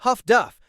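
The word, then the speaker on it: HF/DF: Highfrequency direction finding HFDF pronounced huff duff allowed escorts to pinpoint yubot radio transmissions instantly.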